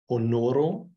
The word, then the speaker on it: honoro: The H is always sound, the H is always sounded and never silent. Honoro, honor.